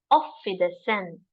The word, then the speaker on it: Auf Wiedersehen: How to pronounce it? Auf Wiedersehen.